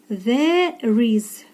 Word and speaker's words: there is: there Flower є квіточки зверни увагу на вимову There is букву і в кінці ми не читаємо і цю структуру поєднуємо як одне слово вимова одним словом The між голосними звук стоїть р ми його з'єднуємо із наступною голосною яка є у слові